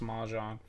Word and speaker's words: Mjolnir: Mjolnir. Mahjong. Okay, it's not hard. It's pronounced Mahjong.